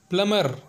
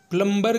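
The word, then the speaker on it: plumber: है हमारा अगला एग्जांपल है प्लमर जिसका मतलब होता है नल साज और लोग अक्सर इसे प्लंबर के नाम से जानते हैं जो कि गलत होता है हमारा अगला एग्जांपल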